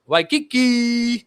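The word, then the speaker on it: Waikiki: W Kiki.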